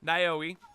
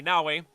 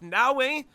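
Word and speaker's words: Naoe: The ninja character Naoi or excuse me, Nawi, my my bad, Ni. People have been people have been uh, you know, making fun of me because I haven't been pronouncing. So, it's Nawi and Yasuke, right? Nawei and Yasuke.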